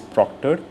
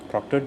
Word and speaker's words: proctor: Proctor sounds like doctor.